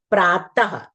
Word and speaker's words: प्रातः: आपने देखा है ना जैसे प्रातः लिखा है और त के बाद हम दो बिंदियां लगाते हैं और उसका उच्चारण ह की ध्वनि के रूप में होता है। प्रातः पुनः विसर्ग का भी आप लिखते समय बराबर ध्यान रखेंगे।